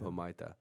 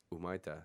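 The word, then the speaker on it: Humaitá: Humaita. You don't pronounce the H, idiot. Umaita.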